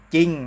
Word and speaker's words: จริง: ว่า มี อะไร ครับ จริง นะ ครับ เห็น ไหม ครับ ชอบ เสียง แค่ จอ จาน นะ ครับ แต่ ไม่ ออก เสียง ร เรือ จะ อ่าน ว่า จะ